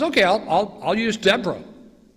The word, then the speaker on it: Deborah: I'll I'll I'll use Deborah or if you're Hebrew Deborah so Deborah Deborah same person just pronounced a little differently and God chooses a